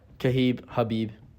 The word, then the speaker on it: Khabib: Like, Khabib, did I say that right? Yeah, Habib. Dang it, dude. Habib. He would be so mad at me if he met me because I cannot say his name correct. Like, Habib Habib Nurmagomedov. Habib? Is that how you say it? Yes, it depends how you're saying it. Habib. Habib, yes. That's how you would say it from where he's from.